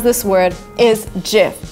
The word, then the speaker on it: GIF: his award so the right way to pronounce this word is jiff not gift salmon is the right way to pronounce the